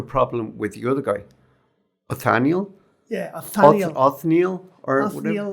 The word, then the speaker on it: Othniel: But it follows the exploits of two crazy paleontologists, Othniel Charles Marsh and Edward Drinker Cope.